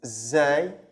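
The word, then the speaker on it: زاي: Okay, the next one is zay. Zay is the Z sound in English.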